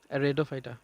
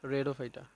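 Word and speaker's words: Rhodophyta: পড়ার সময় আমরা পড়বো রেডোফাইটা মানে কি? লাল। লাল মানে লোহিত। লোহিত তা লোহিত সেবেল কোনটা রেডফাইটা যদি বলা হয় কোনটা ডিরেক্ট বলব যে রেডফাইটা আসলে সঠিক উচ্চারণ যেটা সেটা হচ্ছে রডোফাইটা এবং এইটার যে উদাহরণটা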